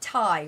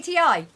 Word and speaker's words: Ti: I was like, "It's not pronounced Tai when it comes to this GPU, the 1080 Ti. It's 1080 Ti, not Tai."